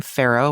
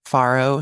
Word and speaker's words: farro: And oh, I'm just going to say I'm saying pharaoh, which is what I call it. F a r o. I think a lot of people pronounce it farrow.